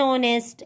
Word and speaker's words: honest: image and apple and honest nr okay see here the words honest and are the letter h is silent but word begins with